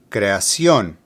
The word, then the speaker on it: creación: Creación has an accent over the O, so that is where the stress is located. Creación.